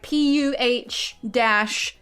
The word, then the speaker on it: Phthalo: Or I'll write one out because Steve likes to say it, Phthalo blue. I'll spell it like that, where it's gonna be like PUH-THALO.